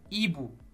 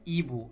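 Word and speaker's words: hibou: nentend pas en effet la lettre h seul ne se prononce pas en français comme dans le mot Ibou donc on a h Ibou ça donne Ibou le H ne se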